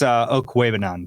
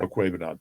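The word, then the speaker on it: Okwuegbunam: It's Okwebanon, by the way. Okwebanon.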